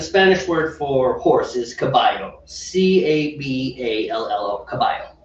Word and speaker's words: caballo: In Argentina, it's pronounced j. Oh. So, the Spanish word for horse is caballo, Caballo, caballo, right?